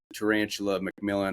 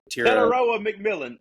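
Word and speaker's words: Tetairoa McMillan: But they did draft the guy who sounds like a rare species of a spider, Tarantula McMillan or something like that. Tararoa McMillan.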